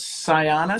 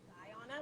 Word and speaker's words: Ziana: And did you say her name was Sayana? Say her name again. Ziana, like Zion with an A.